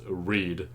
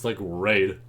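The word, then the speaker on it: Reid: on a certain character, they pronounce the name as Reed. And I'm like, I don't know that's how you pronounce his name. Maybe I'm the wrong one. But like, I don't know. I always saw his name and I'm like, nah, that looks like Raid.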